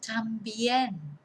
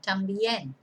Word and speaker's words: también: Número 5, también, which means also. T-A-M-B-I-E-N. Accent on the E, on the E at the end, también.